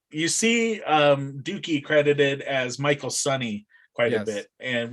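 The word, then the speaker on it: Michael Sonye: You see Dukey credited as Michael Sonny quite a Yes. bit, and which is his Good job on the pronunciation.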